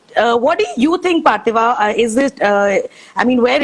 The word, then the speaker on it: Parthiva: Okay, so Parthiva, I hope I'm pronouncing your name correctly. Yes, that's Right, right, Parthiva. Parthiva.